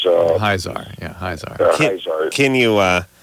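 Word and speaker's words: Hyzaar: The Hazar is Hyzar.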